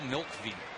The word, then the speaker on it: Mlkvy: and years ago bill milkvie mlkvy the owl without a vowel that one's outside the